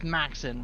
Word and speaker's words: Maxin: gave me but it's Maxin right m-a-x-i-n okay Max like the Max and machine gun um do you want